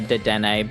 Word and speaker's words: Dedenne: I know it's pronounced Dedenne, but that was always